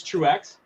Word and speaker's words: Truex: Racers true is it the x is pronounced it's true X true X wow okay so you